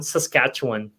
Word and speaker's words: Saskatchewan: Saskatchewan, is that the correct pronunciation? Sorry. No worries. That is common. Saskatchewan.